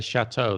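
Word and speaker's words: châteaux: interesting question i mean in the french you'd put an x afterwards but you still say chateau the pronunciation wouldn't change and in english you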